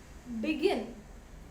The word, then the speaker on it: begin: for prefer become preferring begin here also be again begin here i am giving the stress on the second syllable so that's why it